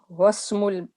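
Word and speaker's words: وَاسْمُ: Wasmu, the ism which was pronounced in the beginning, but when waw comes before it, the alif becomes silent.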